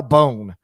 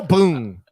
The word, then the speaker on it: Boone: Get rid of one of those O's if you want to be Kyle Bone. You're Kyle Boone. You can't put all those O's. You cannot just decide your name is pronounced a way that it so obviously isn't spelled.